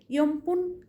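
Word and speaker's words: 四分: ইয়মপুন চার মিনিট। একইভাবে লেখার সময় ইয়নপুন কিন্তু বলবে ইয়মপুন।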